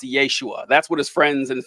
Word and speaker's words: Yeshua: you who don't know Jesus's name in Aramaic would have been pronounced Yeshua that's what his friends